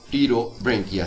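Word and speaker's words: Pterobranchia: हैं और दूसरी क्लास टी रो बंकिया है यहां पर पी साइलेंट है और इसके मेंबर्स को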